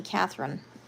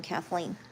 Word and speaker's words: Kathleen: Loads of people call me Catherine, even though I'm Kathleen.